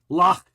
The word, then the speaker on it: Loch: Loch.